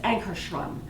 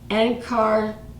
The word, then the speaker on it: Ankarsrum: So thank you for being with me while I unboxed this Ankarstrum. I still have to learn how to say it. Ankarstrum.